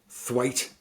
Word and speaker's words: Twat: His name is Rick Mayall's name is Richie Twat, but it's pronounced Thwaite, but it's spelt Twat.